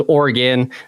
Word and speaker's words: Oregon: one time on an episode oron it is Oran um but it's common common happens yeah they're